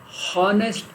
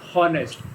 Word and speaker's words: honest: don't pronounce it as honest. It is honest, ah. So the sound ah is vowel sound. So here we place an, an, because the sound is honest, not honest. H is silent here.